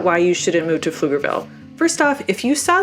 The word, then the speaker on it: Pflugerville: set the record straight the p is silent and it's called Pflugerville it's named after a